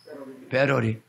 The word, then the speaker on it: 배터리: 재떨이가 아니야 따라서 재러리 밧데리가 아니고 배터리 영어 발음 똑바로 해요 재료를 위에다가 60만원 전세방